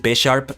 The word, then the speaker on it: Bisharp: be king Gambit this Bisharp is subject to change though and yeah actually I'm pretty sure you pronounce it Bisharp because it's based on a bishop pawniard Bishop King Gambit